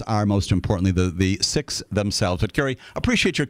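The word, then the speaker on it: Sikh: not to say that some sicks will refer themselves as siks and they will respond because of the nature of who they are and the way that they engage with everybody if you call them seeks they will not correct you uh they will say you know what we're glad to chat with you but um I always use the Expression six because I believe that that is the the proper English pronunciation if you will uh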